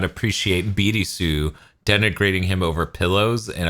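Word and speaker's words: ビルス: Either you're going to call him Beers, which is the fucking joke in his name, or you're going to call him Birisu, and you're going to roll that LR to properly pronounce it in Nihongo.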